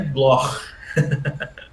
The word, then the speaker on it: Bloch: Meu sobrenome é Bloch. No alemão, o CH tem esse som, né, gutural aqui. Mas é difícil de pronunciar isso, então eu me contento com o Bloch. Tá? Com o Bloch eu tô super contente. Mas a pronúncia que correta... Que nem a atriz aquela. Isso, exato. A pronúncia correta é Bloch.